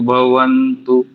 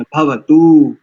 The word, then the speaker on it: भवतु: एक देखिए, आपने भवन्तु किया, भवन्तु, भवन्तु नहीं है, भवतु, सोमो भवतु, भवन्तु नहीं है जी, भवतु।